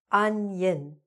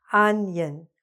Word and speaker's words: onion: Really, like this: "unyun", "onion", okay? So, these are a few examples of words where "on" sounds like "un".